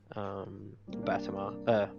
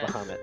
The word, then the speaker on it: Bahamut: by a vision of Batama. How do you say it again? I always get stuck saying it. Is it Bahamut? No. Bahamut, that's it.